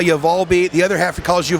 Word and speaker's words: Volbeat: and I've always said Volbeat because when I read the story about how the name came that's how you would pronounce that you know volume beat Volbeat right right okay um